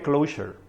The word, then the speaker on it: Clojure: Se pronuncia igual que Clojure. No se dice ni Clojure, ni Clojure, ni nada de eso. Ahí tenemos problemas con eso, o lo decimos en español Clojure, o si no Clojure con S.